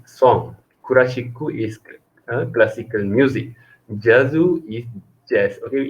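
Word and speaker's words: ジャズ: Jazu is jazz. Okay, you need to be careful about the pronunciation for what written in katakana. Kurashiku, jazu. Okay, otherwise Japanese people not understand.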